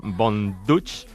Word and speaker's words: Von Dutch: Ella canta esta canción, Von Dutch. Así que, Von Dutch, ¿lo he pronunciado bien?